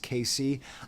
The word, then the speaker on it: KayCyy: Apparently, it's pronounced Casey. I don't know. Casey, don't have so many Y if you don't want to be pronounced like that.